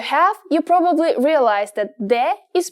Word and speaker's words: Д: If you have, you probably realize that de is pronounced just like the English D.